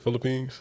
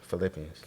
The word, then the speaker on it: Philippians: of Philip of uh how you say it Philippines Philippians I said Philippines Philippians that's funny chapter 2